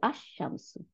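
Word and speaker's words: الشمس: মনে রাখার জন্য আমি এই দুটা ওয়ার্ড নিলাম, এই যে আশ শামসু, শিন। দেখেন আল দিল, তাহলে শিনের উপরে সাদ্দা এসে পড়লো, তাহলে আশ শামসু, সূর্যটি, আশ শামসু, তাই না?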